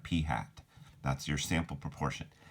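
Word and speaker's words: p̂: you actually pronounce it it's like a hat on top of the P you actually pronounced that P hat that's your sample proportion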